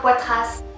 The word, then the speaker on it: Poitras: Laura Poitras est américaine, mais elle a un nom français, fait que je le prononce à la française.